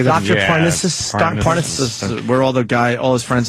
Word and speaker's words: Parnassus: Parnassus.